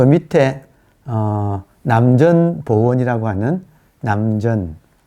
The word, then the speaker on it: 남전: 그리고 그 밑에 남전보원이라고 하는 남전. 저는 샘천자를 쓰는데 발음은 전이라고 발음을 해요. 남천, 남쪽 샘이란 뜻이죠.